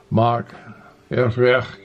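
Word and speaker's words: Machynlleth: fit 30 40 miles to Mach FF something anyway it's um on highway a 487 it's spelled ma CH y n L L ETH I that is where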